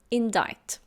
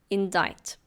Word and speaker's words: indict: Next, we have the word indict. Indict, it's a verb. Be careful of the pronunciation. The C is silent. It's indict.